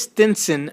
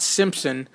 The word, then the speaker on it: Stinson: of Alabama State University and that is Stinson not Simpson it is spelled STI n s o n the own one pitch